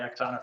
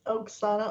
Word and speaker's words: Oksana: and then we'll be i'll just call you exona for the rest of the time it's oksana alexa it's so easy